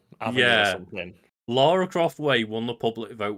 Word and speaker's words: Lara: Well, the first one is Lara's name is often mispronounced as Laura by Americans.